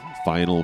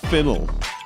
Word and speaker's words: Phynal: Final final productions. That's what the phy I don't know some people 3D rundown Greg pronounced it finel I don't know where you get that I mean phone right